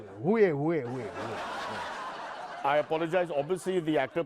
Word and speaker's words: Huawei: Hey, how do you pronounce that name? Xiaomi, nahi? Who, highway, way. Oh, what is that? No, Huawei.